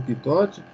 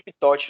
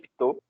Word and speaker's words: Pitot: Você pronuncia tubo de pitote, né? O tubo de Pitot. É isso aí. O seu nome é uma homenagem ao engenheiro francês Henri Pitot. Como é francês, provavelmente a pronúncia seja Pitot.